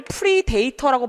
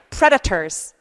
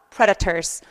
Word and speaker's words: predators: 이거를 predator라고 발음하시는 분들 무지하게 많아요. 안 돼. 자, 이거 발음할게요. predators. 다시 한번 predators. 그죠? predators. 그래서 강세를 주지 않는 모음들은 그냥 발음이 나면서 끝나요.